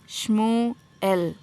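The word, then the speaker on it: Shmuel: इस लड़के का नाम होगा श्मोएल. श्मोएल. श्मोएल. ओके. तो ये जो एस एच है वो श होगा, एम यू जो है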